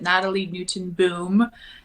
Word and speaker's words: Natalie Nootenboom: no spaces no underscore the way you say my name pronounce it Natalie Newton boom spell it n-a-t-a-l-i-e-n-o-o-t-e-n-b-o-o-m and